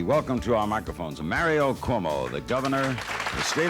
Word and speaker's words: Cuomo: It is somewhat intimidating as you launch an important new career to get your name butchered. It's CUOMO, for whatever that means to you.